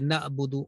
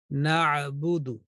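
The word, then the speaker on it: نَعْبُدُ: So pronunciation will be na'budu, bu and du.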